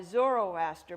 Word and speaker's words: Zoroaster: it was founded by zoroaster but that's the Greek pronunciation the original pronunciation was